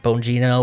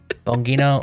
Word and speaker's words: Bongino: And not only that, but you and your deputy director Dan uh I always want to just pronounce his last name like the sound effect. Boing, but it's like Bongino or whatever. Bongino, I don't know.